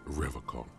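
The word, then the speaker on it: Revachol: He pronounces Revacon with a hard K, unlike other people. I like to pronounce it the hard way.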